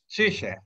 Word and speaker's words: Zürcher: We have a distinguished guest, Erik Jan Zürcher. Am I pronouncing it right? Yeah, that's about right. I know a little bit German. It's like Zürcher. Zürcher, yeah.